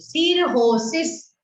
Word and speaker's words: cirrhosis: Cirrhosis, but बोलते हैं cirrhosis. उसकी pronunciation is liver सिरोसिस, but spelling है cirrhosis.